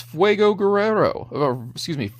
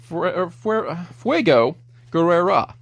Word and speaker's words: Fuego Guerrero: Turns out his name is Fuego Guerrero. Fuego Guerrera. no editing. We're going to keep those stutters and mispronunciations in.